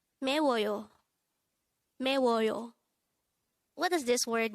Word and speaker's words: 매워요: 매워요. This is pronounced as a three-syllable word. The first syllable is me, second syllable is wo, and third syllable is yo. Pronounce it with me. 매워요.